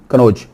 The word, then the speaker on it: कन्नौज: ये double N भी आता है लेकिन आम प्रोनाउंसिएशन एक ही एन बोल जाते हैं, नून, कन्नौज।